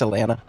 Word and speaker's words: Alanna: It's Alaina.